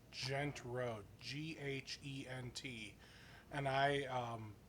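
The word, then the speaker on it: Ghent: probably sneak away with still being able to pronounce total so so there's a a street nearby it's gent road g-h-e-n-t and i um a few years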